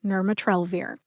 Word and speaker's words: nirmatrelvir: that I ended up going with which is nurat trir I would have preferred to read the pronunciation from the USP dictionary online however unfortunately